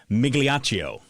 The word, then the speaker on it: Migliaccio: My good buddy, Craig Migliaccio. Did I say that right? Oh, yeah. That's absolutely right.